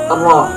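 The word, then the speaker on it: ر: Yang ke-10 adalah huruf ro, pelafalannya ro. Makhrajul huruf ro terletak pada ujung lidah yang mengarah sedikit ke punggung lidah sesudah makhraj huruf nun bertemu dengan bagian di atas gigi seri atas.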